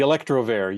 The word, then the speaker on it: Electrovair: uh I I want to say it correctly electrovair is did I say it right the electrovair yes yeah so it's like a Corvair a